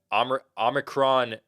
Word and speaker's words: Omicron: It's Omicron.